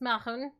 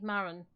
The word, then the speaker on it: Mar'un: cave for okay well my name is pronounced mahon but most people just call me maron or maroon if you're being posh close enough that'll do